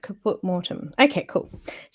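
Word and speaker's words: caput mortuum: put up there so what is it caput mortem it me perfect thank you for that so I was saying it right kaput mortem okay cool it sounds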